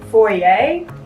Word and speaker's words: foyer: is my very small foyer like entryway in french f-o-y-e-r the r is silent my fridge is the